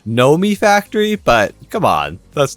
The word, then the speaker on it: Nomifactory: you guys told me that it's actually not pronounced Nami Factory it's pronounced Nomi Factory but come on that's not as fun and